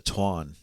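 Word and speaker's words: Táin: going to talk about the Tain or the proper pronunciation the Twan Twan yeah so but we'll call it the Tain because well we're dumb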